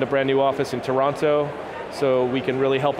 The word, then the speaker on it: Toronto: It's Toronto. I always blow it. I call it Toronto, being the American that I am. It's Toronto.